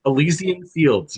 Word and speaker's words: Elysian Fields: Did I pronounce it right this Yes, time? Elysian Fields.